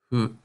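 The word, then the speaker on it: ふ: This kana looks like cartoon wind and has a cartoonishly windy sound. Hu. The consonant is sort of between an F and an H.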